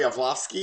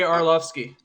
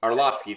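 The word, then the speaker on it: Arlovski: dos santos and um andre yavlovsky is that how do you say his name i'm not an mm andre arlovsky arlovsky thank you i'm not an mma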